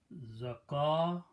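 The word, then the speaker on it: زكاة: Waw is not pronounced. Okay, even though this waw is at the end, but it is not pronounced. Pronunciation is zakatun.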